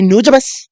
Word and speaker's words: Nujabes: So please say Nujabes.